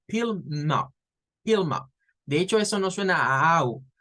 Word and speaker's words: Plymouth: Entonces, allá había una ciudad inglesa, todavía existe, y se pronuncia como Plymouth. Plymouth. No es con la A, no es play, es es con la I corta, Plymouth.